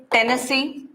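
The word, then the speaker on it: Tennessine: are having here Livermorium, this is Tennessee, INE is silent there, Oganesson.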